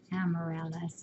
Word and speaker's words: Amaryllis: Don't dawdle, Amaryllis. Yeah, that's the one Gracie found. Accent on the second.